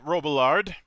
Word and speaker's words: Robillard: You're actually one of the few people who pronounces it the same way I do, although my dad used to pronounce it with the whole French thing going on, and everybody else seems to like it that way.